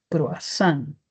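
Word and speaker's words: cruasán: Entonces ya no vamos a escribir croisan ni vamos a pronunciar ni leerlo crois, sino se va a escribir croazán y se va a poder pronunciar croazán.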